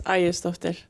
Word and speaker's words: Aegisdottir: It's Aegisdottir. I think I've been doing pretty good. I might put too much of an H at the end of it, like shh. Aegisdottir.